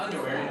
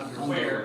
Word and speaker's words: underwear: I would just say underwear is on the first syllable. Yeah, underwear. It's not underwear.